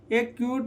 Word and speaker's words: acquit: Silent. जैसे knowledge, ठीक है। यहाँ पर देखिए ACQUIT, ठीक है, एक क्यूट हो जाएगा और लॉक और ब्लॉक।